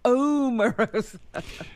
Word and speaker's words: Omarosa: I heard her saying it one day, and it was like, I'm Omarosa.